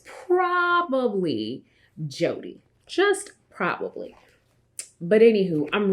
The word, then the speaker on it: Jode: me lace wig and it's jody i've heard a lot of people call it jode and i'm just like i have this thing about how people uh pronounce names of some of the wigs and it's always funny because i understand phonetics right you see j-o-d-e and you say joe'd but y'all it's a